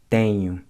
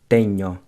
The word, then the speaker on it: tenho: The NH in Portuguese sounds similar to the ñ in Spanish, except that your tongue doesn't quite touch the roof of the mouth. So it's pronounced tenho, not tenho.